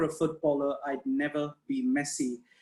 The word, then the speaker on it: Messi: He's posted, if I were a footballer, I'd never be Messi. I think I said the name wrong, Messi. Okay. Not like the adjective, but I'm going to share that video in a minute.